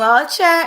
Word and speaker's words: Nwaocha: please tell people how used how do you pronounce it hi my name is archer if you cannot say the last name